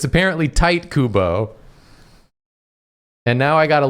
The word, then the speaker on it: Tite Kubo: It's pronounced Tight Kubo, which I hate so much that I don't actually want to say his name anymore.